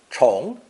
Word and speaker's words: 虫: Pronounced second tone. 虫, 虫.